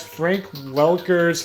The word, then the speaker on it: Welker: And fun fact, Frank Welker's name is spelled wrong.